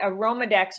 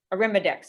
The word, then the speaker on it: Arimidex: okay um understood and then are are there any studies that say aromadex might affect bone loss arimidex excuse me i pronounced it wrong yeah aromadx is one